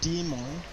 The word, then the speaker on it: daemon: They call it demon. I I used to pronounce it demon, right?